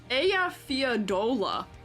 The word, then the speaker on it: Eyjafjalla: Apparently the correct pronunciation is Eyjafjalla.